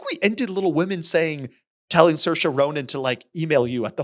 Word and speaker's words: Saoirse Ronan: It took me a second to recall, but Saoirse Ronan.